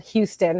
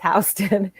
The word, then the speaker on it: Houston: first come to new york uh they always mispronounce the street they think it's uh called houston it's not it's houston um and this is an area of town